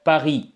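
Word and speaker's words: Paris: ஜு ஸ்வி ஜா பகி பரிசை வந்து நாங்கல பகி என்று சொல்லுவோம் ஜுஸ்வி என்றால் நான் இருக்கிறேன்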